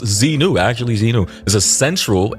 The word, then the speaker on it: Xenu: Xenu pronounced Zenu.